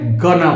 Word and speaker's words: gonna: এই গোয়িং টুকেই আমি সংক্ষেপে গনা বললাম। দেখো এই কন্ট্রাকশনটাই আমি এখানে নিয়ে এসেছি। আই অ্যামকে অ্যাম উচ্চারণ করলাম।